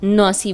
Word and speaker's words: Nancy: hour I took this train between Paris and Nancy, which is pronounced as "Nausy" by the people there.